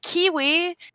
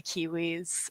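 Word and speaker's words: KeyWe: it's a game called kiwi it's absolutely it's kiwis running a post office it's spelt like key as in like keyboard and then we as in us and it's like kiwis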